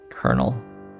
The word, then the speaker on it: colonel: for the wrong reason silent l colonel um something is wrong